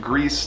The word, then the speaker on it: Gris: It is pronounced Gris, not Gris or Gris.